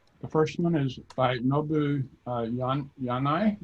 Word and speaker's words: Nobuhiro Yanai: The first one is by Nobuhiro Yanai, I believe is the way you pronounce it, maybe not. Right, it's correct.